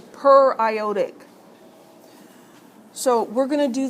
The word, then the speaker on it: periodic acid: does that look like how would you pronounce that per it's per ioic it looks like periodic right periodic acid does